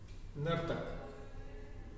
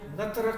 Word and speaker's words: नर्तक: जो ऊपर वाला जो र है उसका उच्चारण हम पहले करते हैं, और नीचे वाला र का होता है वो बाद में किया जाता है।